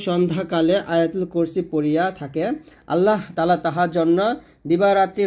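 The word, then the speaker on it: اللهُ: এখানে প্রথম ভোল্টে করি আল্লাহু বলি এটা আল্লাহ বলবেন না যদি বাংলা আল্লাহ লেখা আছে তবে আরবি উচ্চারণ করতে হবে আল্লাহু এ হা পেশ এখানে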